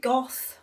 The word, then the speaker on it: Vincent van Gogh: that was his name vincent van gogh you can pronounce it goth but normally it's go um he was dutch